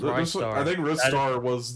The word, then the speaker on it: Ristar: It's Rise Star.